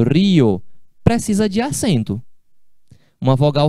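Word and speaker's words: río: Do jeito que eu escrevi aqui, é um ditongo. Então, se eu for ler isso aqui, eu vou falar rio. Rio. Uma sílaba só.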